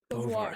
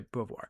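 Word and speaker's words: Beauvoir: Now I may get this name wrong here, but Simon no Simone de Bovar. Thank you. I don't know why that was I know it's Simone de Bvoir.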